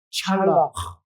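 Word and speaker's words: צלח: 히브리 원어를 찾아보니까 히브리 원어는 이 번성이라는 단어가 찰락. 이 히브리어는 히읗 발음을 좀 세게 해주면 히브리 발음이 된다고 합니다. 우리 한번 따라해 보실까요? 찰락.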